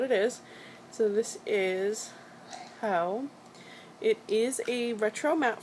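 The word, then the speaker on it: Heaux: So, we have here, this is Ho, and it's spelled H-E-A-U-X.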